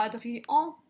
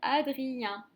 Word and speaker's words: Adrien: On ne dit pas Adrien, c'est Adrien. Le EN se transforme en son 1, se prononce 1.